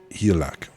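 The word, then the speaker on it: Hygelac: Um um Hil Heliaak. I think that's Bewolf's dad. You don't pronounce the G. Helac.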